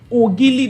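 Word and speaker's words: Ogili: oil it's spelled o g i l i oil that's the pronunciation but there was this particular boy that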